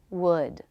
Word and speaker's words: would: Should, would, could. They rhyme with good, hood, and wood.